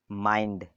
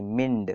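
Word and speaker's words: mind: हम आई प्रोनाउंस करेंगे जैसे कि माइंड ना कि मिंड कोई कोई मिंड पढ़ देता है ठीक है मिंड नहीं पढ़ेंगे क्या पढ़ेंगे माइंड ठीक है फाइंड बाइंडेड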